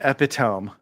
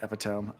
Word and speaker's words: epitome: It is the epitome of. You put the emphasis on the wrong syllable. That was the Cosme reads. We went the entire episode saying epitome.